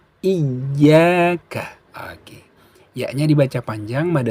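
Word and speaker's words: إِيَّاكَ: Jadi bacanya i tambah ya menjadi iya. Seperti itu. Coba 1, 2, 3. Iyyaka.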